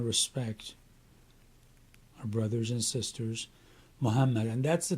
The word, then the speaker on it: Muhammad: our brothers and sisters Muhammad and that's the T anytime you see that sign over a letter that letter is pronounced twice so it's muham and